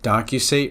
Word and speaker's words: docusate: you would want to think of docusate rhyming with penetrate because what it really